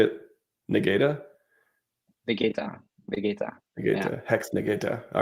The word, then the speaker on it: Vegeta: for me, my European, it's like, Vegeta, not with a G. So yeah, sorry. Oh, how do you say it? How do you say it in the way you say it? Negata? Vegeta.